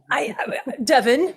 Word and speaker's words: Devon: She lives in Devon, England, with her partner and 2 children. Did I pronounce Devon right? You did. Yeah. How did you think you should pronounce it? Devon, but my husband warned me.